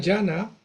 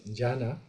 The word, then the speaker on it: Dhyana: Bueno, la comunidad llana, que el nombre es sánscrito, llana, que se escribe así, la transliteración fonética, pero esa es la pronunciación, digamos, sánscrita original, eh, que hace referencia